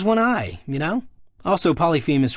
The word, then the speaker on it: Polyphemus: Also, Polyphemus rhymes with penis, I guess.